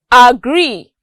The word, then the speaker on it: agree: Other examples are agree. The stress falls on gree.